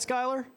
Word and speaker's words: Schuyler: It's Schuyler, Ortega, Ortega. Yeah, big props on the pronunciation as well.